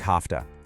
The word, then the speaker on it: have to: In natural speech, have to almost always sounds like hafta.